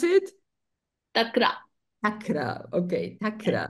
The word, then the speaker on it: takra: really good for such patients how do you pronounce it takra takra okay takra t a k r and